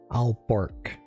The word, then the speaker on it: Aalborg: The one after that, the one after that, Alborg, or yeah, AALBORG.